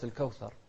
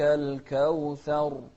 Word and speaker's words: الكوثر: الراء هني قلنا لا يعني هروبنا من التكرير أن ننطق فيها بواو الكوثر، لا، الكوثر. إن التكرير الزائد هو الغير مطلوب، فما يجوز لنا أن نقول الكوثر، لا، إنا أعطيناك الكوثر فصل لربك وانحر.